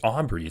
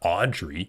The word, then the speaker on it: Aubrey: name Aubrey did teach say his name wrong yeah it's Aubrey it's not Audrey dude he doesn't even